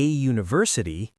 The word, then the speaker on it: university: A university, a European, a one-way, These are the most common U words that sound like Y. Trick number 4.